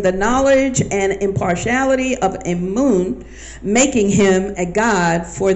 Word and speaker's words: Amun: name means hidden one it's pronounced as it appears on a screen not as Amen and normally but it's pronounced spelled and pronounced a moon it is believed by